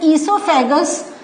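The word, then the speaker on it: oesophagus: नाउ इसके बाद हमारा एक आ जाता है, this part is known as ईसोफेगस। सो ये जो है, तो हम कहते हैं ईसोफेगस, बट the spelling starts with O.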